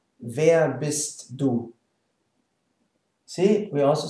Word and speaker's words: wer: e right and ah there's no r or whatsoever it's just now if